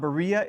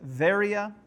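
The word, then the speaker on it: Βέροια: Uh in the city of Berea it's not Berea it's varia. uh because B and V sounds are very very similar and in modern Greece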